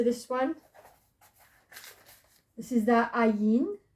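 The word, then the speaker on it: ע: Okay, so this one, this is the ayin. Ayin is a silent letter, so we've got no sound. So you instead it goes straight to the sound of the vowel, which is the air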